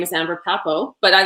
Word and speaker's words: Papou: So just to kind of back up a little bit, my name is Amber Pa-Pow, but I like how you say it better.